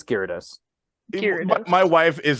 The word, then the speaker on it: Gyarados: I refuse to say it is no it's Gyarados my wife is like a she teaches English